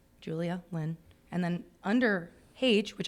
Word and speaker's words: Hage: And then under Paige, which I wrote out phonetically, I put like Paige and they pronounced my name.